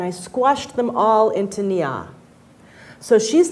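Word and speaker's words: Nya: And the girl's name, the correct pronunciation is actually Nia.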